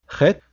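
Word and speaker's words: חית: Chet really doesn't have an equivalent sound in English. It sounds similar to J in Spanish, like in the name Jose.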